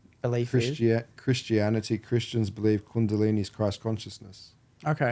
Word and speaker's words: Kundalini: I'm saying it right candini or calini Kini Kundalini okay that's how you say it but I